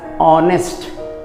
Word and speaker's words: honest: is an honest man you should read as honest okay honest you should not read as honest